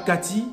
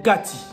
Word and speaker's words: Kati: Se prononce Kati. Pas Kati, mais Kati. Kati qui signifie l'intérieur.